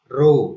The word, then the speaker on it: rho: Saya ulang, R sama dengan rho. Ini bacanya rho, seperti huruf P yang miring ini dibaca rho L per A.